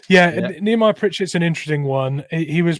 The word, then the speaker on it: Nehemiah Pritchett: Are you going to make me do it, Mitch, or do you know how to pronounce it? I can do it. It's Nehemiah Pritchett.